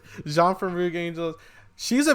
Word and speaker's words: Jeanne: Am I pronouncing this right, Janine, or is it Janie? Jeanne.